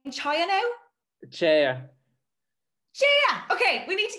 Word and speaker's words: Chaya: Chaya.